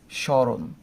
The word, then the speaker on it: স্মরণ: আছে কি হবে না, এক্ষেত্রে ময়ের উচ্চারণ হবে না। আমি কি লিখবো শুধুমাত্র উচ্চারণে, স্মরণ।